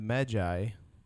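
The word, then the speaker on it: Medjay: Well, because the or quest system conversations lends itself to you as the Magi, is how it's pronounced, but spelled.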